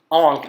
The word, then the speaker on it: Ankh: That is what an Ankh actually is, or that is what you are drawing. It's pronounced A-N-K, but what you're physically drawing, just like previously, the A-H-A is a mast of a ship.